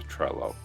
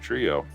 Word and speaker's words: Trello: you got right through trello okay there we go uh from trello themselves it is not trio it is or treyo it's trello okay i stand corrected